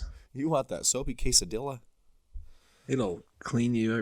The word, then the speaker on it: quesadilla: You want that soapy quesadilla? It'll clean you right up. It's one of my pet peeves. Everybody should know you don't pronounce the L's in quesadilla.